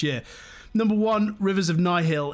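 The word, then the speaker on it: Nihil: number one rivers of nigh Hill is how you pronounce not Nile where Al's know my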